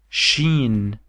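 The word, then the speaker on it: شين: Now we have the same letter here, but we have a 3 dots above it, and it's called sheen, which is sh, just like s and h in English.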